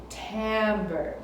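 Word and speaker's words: timbre: element for today is called Tambor Tambor it's spelled with an i but you say it with an a Tambor and that's the color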